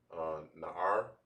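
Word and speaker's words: נער: So now for lad, which is pronounced as Na'ar in the Hebrew, it's like not Na'ar,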